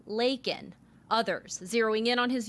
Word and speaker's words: Laken: illegal critics pointing out he called her Lincoln instead of Laken others zeroing in on